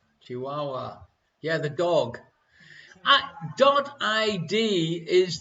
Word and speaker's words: Chihuahua: Thank you very much, Little Sheep Minion, for pointing out that I pronounced the pronunciation of the dog wrong. No one else noticed. Ya bam! Chihuahua.